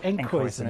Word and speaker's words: Enkhuizen: There we go, Enkhuizen. It's like Huizen Duck.